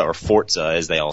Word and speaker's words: Forza: um or Forza or Forza as they all say now uh um but I know that they're saying not not the kids the official marketing people are saying it's Forza that's how it's pronounced I was saying it's